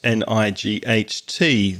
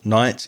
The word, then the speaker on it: night: N I g ht. The gh in the middle of night is silent.